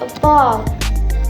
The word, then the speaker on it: about: Like word about, syllable and about. The stress put on the second syllable, which is about, so it pronounced like about, about.